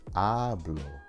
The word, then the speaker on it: habló: It's habló, not habló.